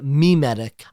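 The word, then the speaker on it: mimetic: Jewish history was extraordinarily my medic and I know people have called in and criticized and said it's pronounced me medic I'm gonna stick with my childhood pronunciation of my medic but for most of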